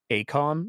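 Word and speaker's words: AECOM: Source contract with aeom Acom is apparently how everybody's pronouncing it uh aeom uh out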